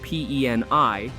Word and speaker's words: PEN1: Public Enemy Number 1, often shortened to PEN1 or pronounced PENI, is a gang that started in the 1980s in Long Beach, California.